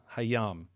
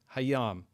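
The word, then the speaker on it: הַיָּם: And we see that the noun yam is prefixed by he and the vowel sign. And that there is a desh in the first consonant of the word yam. That is to say the yud hayam.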